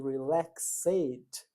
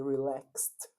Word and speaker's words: relaxed: Esse ed de regra ele não é pronunciado, né?